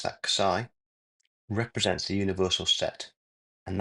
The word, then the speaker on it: xi: So this Greek letter, and we pronounce that xi, represents the universal set, and that contains all of the elements used.